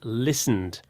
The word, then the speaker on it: listened: Or like a D. Listened. Listened.